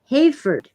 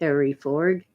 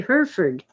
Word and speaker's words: Hereford: always makes me smile sample Hereford is Hayford or Harry Ford I don't say Harry Ford I say Hereford because it's a type of cattle and I've heard it documentaries about Hereford cattle but you say